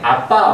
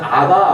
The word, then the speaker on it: 아빠: 옮겨서 타이핑한 거기 때문에 아빠 아버지라고 이제 적혀 있는데 개역 한글 성경을 보면 아바 아버지라고 적혀 있어요 물론 아빠란 발음이 좀 더 정확한 발음이에요 히브리어로 abb도 굳이 영어